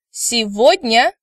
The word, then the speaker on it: сегодня: Now please note that word today, сегодня, is pronounced with a V instead of G sound, which was mentioned in supplementary materials in previous lectures.